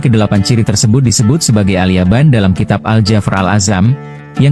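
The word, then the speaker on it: اليابان: Lalu mengapa kata Alyaban dalam kitab Aljafar Alazam diterjemahkan sebagai negeri Jepang? Jawabannya adalah karena kata alyaban merupakan pelafalan dalam bahasa Arab dari kata Alyafan.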